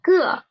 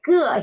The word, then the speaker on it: 个: cup is 一个杯子, and please pay attention to the 个 here. When we are learning it individually, it is a fourth tone syllable, but when we are using it as a major word, it is usually neutral tone, so it is not 一个杯子, it's 一个杯子.